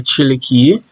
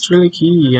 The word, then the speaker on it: Triliki: This bath suit here is by Triliki. Again, I've heard people say her name like Trilik or whatever, but I think it's Triliki, and I'm not saying that I'm correct, but back again with the the cow collection.